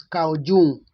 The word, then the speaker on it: Jung: student of Sigmund Freud Carl Jung Le pronounce him as cow June Carl Gustav Young was